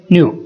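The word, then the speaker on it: knew: उन्हें पता था, दे न्यू इसमें के साइलेंट होगा, कुछ नहीं होगा, नथिंग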